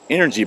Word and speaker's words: NRG: one of their new NRG backpacks or as they pronounced an energy backpack kind of catch you